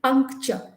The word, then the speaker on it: puncture: r e okay but it sounds like p u n k puncture so but it's actually